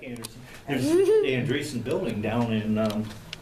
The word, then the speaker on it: Andresen: How do you pronounce your last name? Andresen. Andresen. Okay. Well, That's thank you very much. It's like Anderson. There's the Andresen building down in